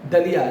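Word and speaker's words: dalia: आप दलिया खा सकते हैं. देखो, हिंदी में इसको दलिया बोलते हैं, जबकि स्पेलिंग है DHALIA. DHALIA, दलिया. इंग्लिश में बोलेंगे तो दलिया.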